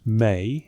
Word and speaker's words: me: two cuneaoifor signs c aw pronounced may in sumerian but its meaning proved maddeningly complex.